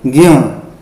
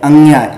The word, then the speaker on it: ज्ञ: हम क्या बोलते हैं, कुछ लोग जो ज्ञ, देखिए ज्ञ, ठीक है, ज्ञ, न अनुनासिक है, न आना चाहिए, ज्ञ, इसका हम उच्चारण करते हैं ऐसे ज्ञ, ठीक है। अब कुछ लोग क्या करते हैं, अंग्या, ये उच्चारण सही नहीं है, अंग्या वाला उच्चारण सही नहीं है।